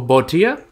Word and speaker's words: Botia: Or Botia, that'd be how you pronounce that.